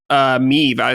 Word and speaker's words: Meve: If you're unaware, it's a top-down RPG, which you control Meve, is how you say the name, the Queen of Lyria /Rivia, as she leads a campaign against the invading Nilfgaard.